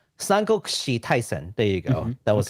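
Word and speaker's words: Taisen: the uh Sango Kushi uh Tyson IP it's Tyson there you go that was a terrible pronunciation earlier which is a job uh let's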